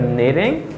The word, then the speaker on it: knitting: And here I have knitting, knitting.